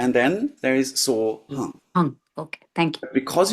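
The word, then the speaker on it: hūṃ: But it's easier when we spell it H-U-N-G, because then we clearly understand that that nasal sound has to come.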